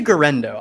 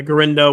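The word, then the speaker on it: Guerendo: I say Garendo. I say it as close to as it looks. Yeah, Garendo.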